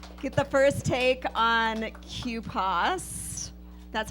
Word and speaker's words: QPAS: here tonight to get the first take on Q paws that's how you pronounce it I know that's gonna be a